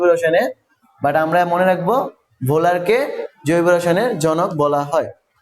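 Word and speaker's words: Wöhler: বোলার, German বিজ্ঞানী বোলার, যদিও German ভাষায় ওলার হয়, মানে এমনে WOHLER, আমি যদি নর্মালি উচ্চারণ করি তাহলে ওহলার, কিন্তু জার্মান ভাষায় ডাব্লিউ এর উচ্চারণ হয় ভয়ের মতন। এটারে আমি বলতে পারি ভোলার, ফ্রেডরিক বোলার।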